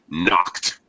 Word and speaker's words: knocked: Anna uh knocked knocked when we have uh the past tense Ed of a regular verb behind the voiceless sound of K C it's voiceless any voiceless sound when we use the past tense Ed will be pronounced as t a t knocked knock all right